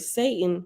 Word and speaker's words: Satan: a servant of Satan the Hebrew word Satan pronounced Satan means opponent or adversary and